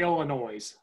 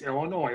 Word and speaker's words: Illinois: People say Illinois. It's Illinois. That S is silent.